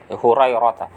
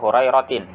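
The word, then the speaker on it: هريرة: Abu Hurairah ini huruf ta marbutahnya biasanya dibaca dengan fathah ya sebagai isim la yang sharif. Hurairah. Meskipun ada sebagian ulama yang membacanya dengan kasrah ya Hurairatin.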